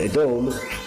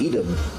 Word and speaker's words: Edom: And Edom, or as Americans pronounce it, Edom, Edom, is still the biblical enemy of Yaakov.